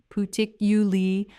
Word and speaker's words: particularly: The stress falls on the 2nd syllable, particularly. Particularly, say it with me.